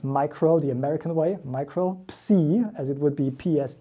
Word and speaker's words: Micropsi: parts microbe C and industries we actually do pronounce micro the American Way micro C as it would be PS II which is